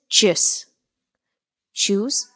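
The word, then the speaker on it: tschüss: with this word Cheers Cheers can be a bit difficult to pronounce so in that sense I would say that the closest word that you can think of in English at at least uh for this word's pronunciation is choose and the German word is CH choose ch choose okay which means goodbye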